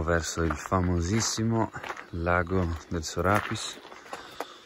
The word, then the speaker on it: Sorapìs: Ci dirigiamo verso il famosissimo Lago del Sorapiss. O Sorapìs, visto che c'è l'accento sulla i.